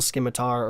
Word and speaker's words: scimitar: equivalent to a mithril scimitar or scimitar people used to call me out about that that the sea is silent I do believe and you'll also get